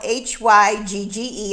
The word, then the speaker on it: hygge: is the perfect time to get hygge which is spelled h-y-g-g-e i actually had to google it to find